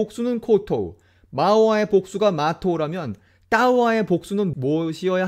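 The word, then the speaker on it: māua: 그럼 여기서부터는 그 4개의 단어 마우와 마토 그리고 타우와 타토의 원어 발음으로 한번 들어보시겠습니다. 마우아, 마우아.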